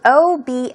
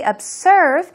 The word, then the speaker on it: observe: look at very closely, it's an O-B-S-E-R-V-E, but it's a Z sound. So be very cautious. Don't say observe, it's observe.